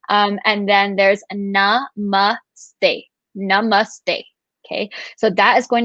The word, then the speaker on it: namaste: just talked about so there's the whole namaste which is the incorrect pronunciation of it um and then there's namaste okay so that is